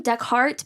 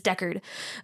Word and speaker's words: Deckard: for uh rick deckert i call him deckhart but that's not his name because i know it just annoys my boyfriend it's deckard um so sorry if